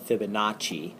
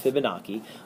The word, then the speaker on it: Fibonacci: It looks like it's spelled Fibonacci, but that's incorrect. It's pronounced Fibonacci. And that's another example.